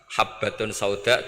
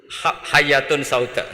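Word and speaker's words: حبة السوداء: Jadi gurunya baca habbatun sauda dawaun min kulli da. Jadi dia kitabnya kelebihan apa? Titik. Jadi kelebihan titik dia bacanya itu hayatun sauda dawaun min kulli da. Nyari ular hitam, kobra, dipatuk mati. Padahal sesuai resep kitabnya, karena kitabnya dia kelebihan titik hayatun sauda, artinya maknanya ular hitam.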